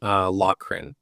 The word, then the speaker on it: Loughrin: Loughrin.